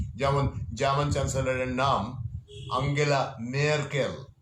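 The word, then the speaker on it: Merkel: যেমন জার্মান চ্যান্সেলরের নাম আঙ্গেলা মেয়ারকেল, উচ্চারণটা ঠিক মতো জানবেন।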